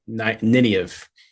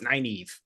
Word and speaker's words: Nynaeve: about the pronunciation of Nineveh. He was like, no, it's Nynaeve. I was like, that sounds stupid. No one would call anybody Nynaeve. It's Nineveh. And oh yeah, well, I'm